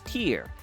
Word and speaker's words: Tyr: any enemies whatsoever but how do you pronounce tier tier also known as T Tai and Z is pronounced as tier depending on which language you speak of course different versions apply